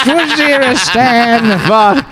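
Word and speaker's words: Waziristan: Actually, it's pronounced Wazeristan.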